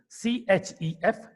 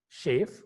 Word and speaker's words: chef: Chef. C-H-O-I-R, choir. And you have the third word, C-H-E-E-S-E, cheese. How do you pronounce it now? All are starting with C-H, the spelling C-H.